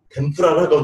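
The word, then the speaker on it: 天ぷら: 개발돼가지고 바삭바삭하게 하는 것이 일본 말로 덴푸라라고 돼가지고 왔는데 미국 사람들, 유럽 사람들이 덴푸라 발음 못하니까 템포라라고 발음을 하는 거예요.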